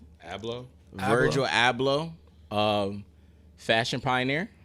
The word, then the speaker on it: Abloh: do you say his last name hablo virgil ablo um fashion pioneer right fashion pioneer for off